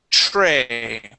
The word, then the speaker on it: tray: Now, when you have a TR sound, you want to pronounce that TR like. Okay, so the TR sound, you want to pronounce that like a CH. We say tray.